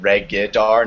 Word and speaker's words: Regidar: I know this sort of goes against English convention, but I pronounce it Regidar, not right. Are you It's yeah, Regidar? it's Regidar. It gets pronounced Regidar a lot often. So just my official pronunciation is Regidar.